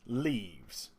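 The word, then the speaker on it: leves: that will offer company leaves l v it's pronounced leaves I've done research into that as well and what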